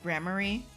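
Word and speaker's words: gramarye: is necromancy magic enchantment pronounced gremory is grammary yeah soft Ma and then re read Riri under my umbrella ella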